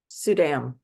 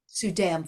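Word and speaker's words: Suydam: say this Soom I'm not sure how to pronounce the name s u y D- M sudam sudam thank you and what book is what is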